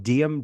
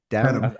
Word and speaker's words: Dedham: I want to ask about the Devil from Diem. Diem, is that how you say it? Dedham. I think it's Dedham.